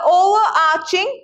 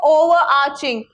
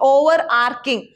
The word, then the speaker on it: overarching: to win next the overarching power of patriarchy what is the meaning of overarching you pronounce this as overarching and not over arcing it's over arching power of patriarchy what is